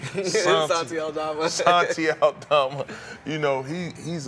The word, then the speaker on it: Santi Aldama: But, you know, you got guys like Santonio Aldama. Did I say his name right? Santi. Santi Aldama.